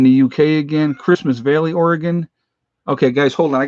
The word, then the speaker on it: Oregon: I say it right now, don't I? The gun part, Oregon.